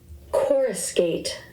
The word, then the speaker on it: coruscate: got for word genius chorus gate chorus gate chorus gate never heard that one before neither have I okay this one and it's spelled c o r u s c a t e okay of light flash